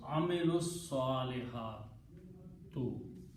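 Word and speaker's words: عملوا الصالحات: We will pronounce amilus salihatu. They did good deeds. Those are the words in the Quran. Amilus separately it is amilu and as-salihatu. But you can pronounce them together. In that case, you don't have to pronounce the vowel there. Amilus salihatu. And they did good deeds. Many things drop up in the middle. Alif is not pronounced.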